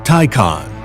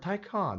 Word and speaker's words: Taycan: will make you pronounce they would say the word ty con you liked icon right that's that's they literally